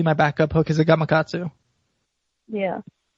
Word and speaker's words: Gamakatsu: That's usually my backup hook is a Gamakatsu. Yeah. Say it slowly. It's a what? Gamakatsu.